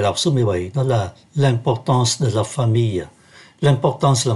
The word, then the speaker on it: L'importance: Và chúng ta để ý ký tự M ở đây phát âm là N, sau bởi nó đứng trước ký tự P.